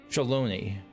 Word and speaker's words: Shaaloani: of Hope and ambition shalone Shi okay so so the AA I would have assumed put emphasis on the first syllable but it does not lies past Shalon oh